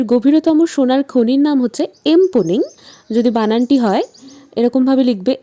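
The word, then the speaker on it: Mponeng: পৃথিবীর গভীরতম সোনার খনির নাম হচ্ছে এমপনিং। যদি বানানটি হয় এরকমভাবে লিখবে এম পি ও এমই এনজি অর্থাৎ এমপনিং। উচ্চারণটি হবে এমপনিং।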